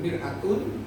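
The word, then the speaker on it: مرآة: Tulisannya sama. Bacanya saja, kalau fathah mar'atun perempuan, kalau mir'atun apa? Cermin.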